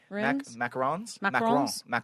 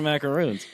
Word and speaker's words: macaron: is the coconut thing and macaron is the is the pronunciation for the French I just learned another thing I thought those were macaroons this is there's one